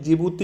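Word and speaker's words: Djibouti: जिबूती डी से start होता है, हालांकि प्रोनाउंसिएशन जिबूती इसको कहा जाता है।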